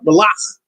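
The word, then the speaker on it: מלאך: And then malach, really with the cha, malach is M-A-L-A-C-H. Malach. There's a cha at the end. Malach. So you can maybe tell the difference. Malach, soft K, malach.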